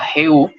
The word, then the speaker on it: Jehú: Tenemos también a Jehú, J-E-H-U, acento en la U, que significa Jehová es él.